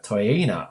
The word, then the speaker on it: Toeaina: the WB BL Cup final she is taina welcome to the MVP car hello thank you I hope I pronounced your name correctly yes yes you've got